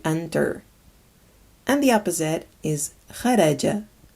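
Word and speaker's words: خرج: And the opposite is kharaja, kharaja, and it means to exit, to go out.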